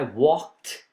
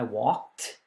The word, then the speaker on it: walked: past for example okay when you say i walked see i walked i had pronounced like a t to the movies last